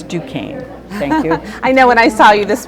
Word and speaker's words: Duquesne: a few around here call this Duquesne Duquesne so it's Duane thank you I know